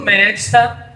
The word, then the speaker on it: Medsta: Então, temos aí arroba Bruno Medsta, MEDSTA, o D é mudo, arroba Bruno Medsta, tá?